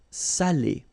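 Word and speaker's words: salé: So if you don't put the accent, it means dirty and then you pronounce it sal. But in that case here, okay, you put the accent and it's quite important because in that case it means salted. Okay. Sali. Okay.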